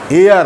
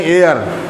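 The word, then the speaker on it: heir: ये हो गया कि words सबलाइन, time memorial, एयर, हेयर नहीं एयर, एच साइलेंट रहता है।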